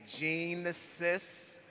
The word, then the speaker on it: Genesis: a little bit differently I say Gene assists because it is spelled g-e-n-e-s-i-s and a gene is